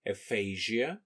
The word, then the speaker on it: aphasia: Ukrainian term Aphasia and it's pronounced as Aphasia in American English most often they are